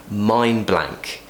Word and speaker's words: mind blank: here I'm having a mind blank mind mind blank blank ok however mind blank is quite a lot of consonant sounds there so we will actually say mine blank imagine you're saying the